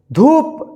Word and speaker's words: धूप: दुख, जैसे यहां पे देखिए दुख, धूप, देखिए यहां पे छोटा उच्चारण, यहां पे थोड़ा खींचकर लंबा उच्चारण हुआ है।